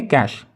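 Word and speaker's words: cache: अब इसको कैश पढ़ें या फिर कुछ भी पढ़ लें अपने हिसाब से, यहाँ पे हम प्रोनाउंसिएशन तो सीखने हैं, तो इसको कहेंगे कैश, कैश।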